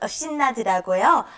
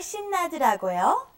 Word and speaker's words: 신나더라고요: Okay, they take out the E altogether and say 신나다 or 신이 나더라고요. 신나더라고요. Okay, so you can take out the E and that just makes it shorter and easier to pronounce.